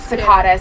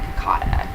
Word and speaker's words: Cicada: Kakata, I think is how you say Cicada. Cicada, whatever. Cicada. It looks like Kakata.